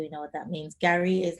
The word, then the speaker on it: Garri: Water and Garri.